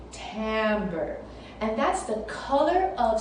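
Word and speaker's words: timbre: for today is called timber it's spelled with an eye but you say it with a an a tambour and that's the color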